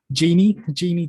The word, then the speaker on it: Jeannie: Her real name's Jeannie DeVita, but her pen name's Callie Chase. And I'm sorry, her real name is what? Jeannie DeVita, but like Genie in the lamp, but not spelled like that.